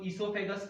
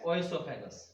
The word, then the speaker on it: oesophagus: अब कोई इसको ईसोफेगस प्रोनाउंस कर, ओ साइलेंट है, कोई इसको ओएसोफेगस प्रोनाउंस करता है, वो अपनी अपनी प्रोनाउंसिएशन पे है कि हम उसको कैसे स्पेल आउट करते हैं।